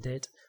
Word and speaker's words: debt: So I'm in debt. Notice this, in debt. You don't pronounce the B. In debt.